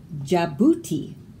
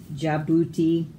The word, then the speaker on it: Djibouti: Handkerchief, bridge, Djibouti. Silent D's in those words, but you have to spell it with it in there or it's spelled wrong.